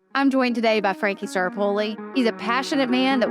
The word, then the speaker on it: Staropoli: You could say Staropoli. Staropoli. That's fine right there. I'm joined today by Frankie Staropoli.